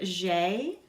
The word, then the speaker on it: j'ai: The final thing, the word j'ai, I have, people often mispronounce. Your A and I together make an A sound.